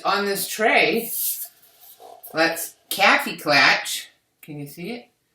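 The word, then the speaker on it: Kaffeeklatsch: Let's Kaffee Klatch. Can you see it? It's backwards, but it's spelled Kaffeeklatch.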